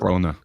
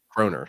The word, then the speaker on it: kroner: How do you pronounce it? Corona. Kroner.